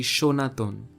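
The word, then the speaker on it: সনাতন: is your used and when you write the word in Bengali you also use the word sir but the pronunciation of the word happens to be shonathon notice how the first line actually uses the letters da and na but they are never pronounced using their original sounds so it is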